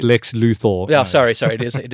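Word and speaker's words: Lex Luthor: he's he's handsome now yeah nichas now he's Lex Luther yeah please it's pronounced Lex luor sorry sorry it is it is an o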